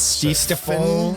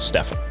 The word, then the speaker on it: Stefan: It's not French. Not Stefan or something? Yeah, no, it's just Stefan.